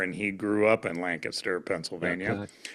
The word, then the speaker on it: Lancaster: Lancaster. Well, how do you say it? Run it all together. It's Lancaster.